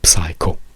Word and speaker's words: psycho: a word for example in English it is not pronounced ps so all the words like the film you know psycho ehm that is actually you say psycho or oh or oh